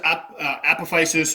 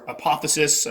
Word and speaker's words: apophysis: All right, so next up we have my Theraphosa apophysis or apophysis. I've heard it pronounced both ways. Pick one that works for you.